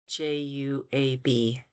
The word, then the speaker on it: Juab: And JUAB. okay. It's pronounced Juab. Joab.